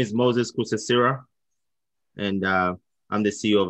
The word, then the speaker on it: Kosasira: My name is Moses Kusesira, and I'm the CEO of SMG.